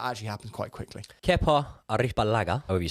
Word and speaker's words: Arrizabalaga: Kepa Arrizabalaga, however you say it, Arrizabalaga. Beautiful pronunciation, Joey.